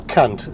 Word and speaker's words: Kant: philosopher called Emanuel Kant be careful how you pronounce that surname Emanuel Kant c not c k a NT K and he talked quite